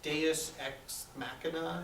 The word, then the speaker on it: deus ex machina: I think the mistake that we make is to kind of treat that as the, I always mispronounce this, deus ex machina.